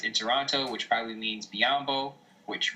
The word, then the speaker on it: Biyombo: Toronto which probably means biyombo which rhymes with Mutombo is out of there